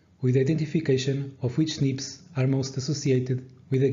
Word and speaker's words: SNPs: The genetic information represented in these datasets typically pertains to a large array of single nucleotide polymorphisms, abbreviated to SNPs and pronounced SNPs.